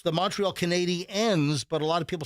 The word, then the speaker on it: Canadiens: people say up the Canadians. No, it's the Canadiens. You emphasize Well, the it ends in the EN the as ends, opposed to- and it's spelled ENS and not ANS at the very end.